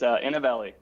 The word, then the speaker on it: Inovelli: It's Inovelli. Okay. So I had it kind of right. So I guess I'll go ahead and introduce yourself. Sure. So I'm one of the founders of Inovelli.